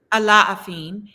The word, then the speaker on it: Alafin: The Alafin? Laughing. Alafin. The thing about Yoruba words is that it's really every syllable is pronounced in them usually.